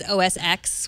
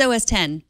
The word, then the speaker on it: OS X: they did Roman numerals like everybody who says OS X whenever anyone says Oh accent as X I like oh that's not OS X I'm a flip-flopper it's not like Jeff and Jeff its OS 10 there's not a question